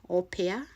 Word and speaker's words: au pair: You see the spelling, au pair, that's how it's pronounced, close to that.